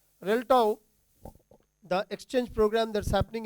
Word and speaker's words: RELTTAW: That's the right pronunciation. RELTTAW, the exchange program that's happening in for the